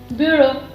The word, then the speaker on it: bureau: We pronounce the same way as we pronounce in French, that is bureau. Bureau. This is actually sort of loan word. Okay, so EAU is O, B is B, U is U in French.